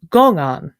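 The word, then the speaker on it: 公案: of a Chinese term which in Mandarin is pronounced gongan.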